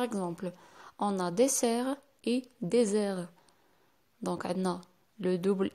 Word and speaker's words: désert: Par exemple, on a dessert et désert. Donc عندنا le double S la première, la deuxième عندنا S. Bien sûr, S entre deux voyelles, ça se prononce Z. Donc on va dire désert.